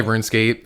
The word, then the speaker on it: RuneScape: and at the time i thought it was called run escape because our friend brandon i was like is this how do you say this does this run escape and he's like yeah yeah it's runescape man yeah yeah he just